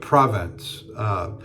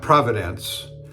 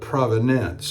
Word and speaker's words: provenance: All the brush strokes match up to a Rembrandt, but we can't prove the provenance, not providence, like divine providence, but provenance, I think is the correct pronunciation.